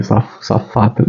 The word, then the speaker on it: Safatle: Aí eu vou para a fala do Vladimir Zafatli, acho que é assim que se pronuncia o nome dele, Zafatli, né, que foi candidato